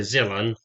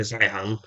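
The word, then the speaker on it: Zeihan: to the geopolitical analyst Peter Zilan, or Peter Zihan, depending how you pronounce the name, the British will either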